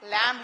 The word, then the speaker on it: lamb: B is silent here. You have to pronounce lamb here.